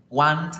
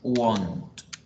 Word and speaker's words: won't: lo confundan con el want, que realmente no es want la pronunciación es won't, won't.